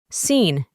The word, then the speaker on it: seen: Y por último, en la forma en el pasado participio, seen. Para pronunciar correctamente, reemplazamos la doble E por una I.